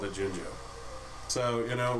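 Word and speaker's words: Jinjo: I've heard uh all sorts of different stuff, but I've always growing up called it Gingjo. So, you know, right now we're just gonna leave it at Gingjo. It's Jingjo.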